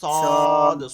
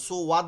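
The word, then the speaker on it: صاد: স স সদ, সুওয়াদ বলবো না, ডাইরেক্ট উঠাই সদ নিব, সদ। সদ হ্যাঁ, একটু দালে গিয়ে একটু ধাক্কা দেব, সদ দালটা হচ্ছে কলকলা হয়, সদ।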